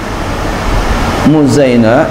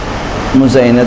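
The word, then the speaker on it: مزينة: Muzainah bitasghir. Muzainah itu dengan tasghir. Bacanya tasghir Muzainah.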